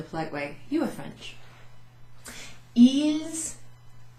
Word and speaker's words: ils: Ils, I pronounced the S there for a reason.